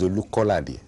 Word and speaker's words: Olukolade: I've heard you called Olukolade. My name is Olukolade.